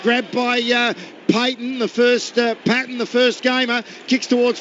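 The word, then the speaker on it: Paton: No, it is pronounced Patton, even though it's spelt P-A-T-O-N.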